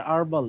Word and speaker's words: herbal: ঠিক আছে, হার্বাল হচ্ছে একটা, আমরা জানতাম যে এটার উচ্চারণ হচ্ছে আরবাল, এরকম আর কি।